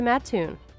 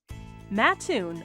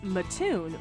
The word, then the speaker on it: Mattoon: first let's head to matun matun often pronounced maton by Outsiders is just 10 miles